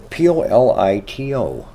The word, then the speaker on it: Polito: Polito. Yep. Almost like Politico without the IC.